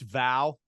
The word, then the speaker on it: Vow: I thought about going with, I think it's pronounced VOW, VOW.